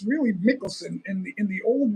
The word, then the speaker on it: Michelson: see I don't know no it's it's not michelon it's really Michelson in the in the old world in in um Norway it's pronounced m i c h e l